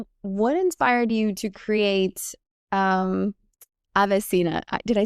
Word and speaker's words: AveSeena: So, what inspired you to create AveSeena?